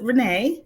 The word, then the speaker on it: Rena: I'm doing well, and I pronounce it Renee.